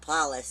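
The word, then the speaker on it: Pallas: of paulus palace is i usually call it palace but palace is how you pronounce it i believe paulus is athena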